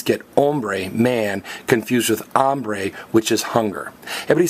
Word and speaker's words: hambre: And one final notice, the H is silent. You don't say hombre and hambre, you say hombre and hambre.